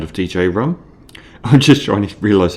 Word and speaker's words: Djrum: Um, you can pronounce it drum, but that doesn't sound as good as DJ Rum.